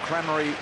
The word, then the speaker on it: Crameri: And we're told Crameri is the correct pronunciation, Jared, direct from his mother.